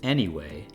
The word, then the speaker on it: anyway: The word anyway and the phrase any way have slightly different pronunciations and very different meanings. Can you hear a difference when I say them concurrently? Anyway, any way. It’s a subtle difference, but it’s there.